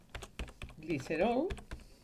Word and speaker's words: glicerol: esto sería agregar texto, glicerol, acordaos de la L pronunciada en plan catalán, y esto, vuelvo a